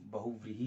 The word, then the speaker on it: बहुव्रीहि: कुछ लोग जो है वो इसका उच्चारण बहुव्रीहि करते हैं, तो बहुव्रीहि ही सही है।